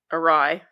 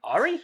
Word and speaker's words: awry: But things go awry? Yeah, all right. Awry? Ari? I always do that with that word because it's spelled AWRY.